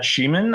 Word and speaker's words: Schiemann: Uh my name is Sheaman.